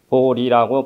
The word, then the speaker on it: 보리: 것도 바른 번역이 될 수 없으므로 그냥 우리는 보리라고 발음합니다 보리심은 깨달음을 얻고자 하는 마 마음이며 열반의 세계로